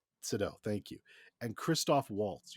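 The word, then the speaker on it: Seydoux: I don't know how to say her fucking last Sido. name. Sado, thank you.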